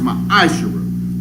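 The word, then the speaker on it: מעשר: 21 malachi 3 8-10 means 10th in the hebrew and it's pronounced my ishera it means the 10th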